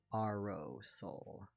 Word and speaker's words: Aurosol: It is like aura, Aurosol. but with an O. Okay. I changed my username on DeviantArt recently, and they're like, I'm imagining it's pronounced like aerosol. And I was like, close. Not exactly, though.